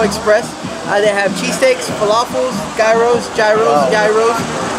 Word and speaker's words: gyros: They have cheesesteaks, falafels, gyros, and that rhymes with yos.